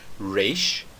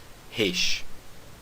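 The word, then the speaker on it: ריש: Você pode falar Reish, você pode falar Reish, mas não diga Resh, tá bom? O som que eu vou utilizar é o som do R francês, porque esse é o som do hebraico moderno.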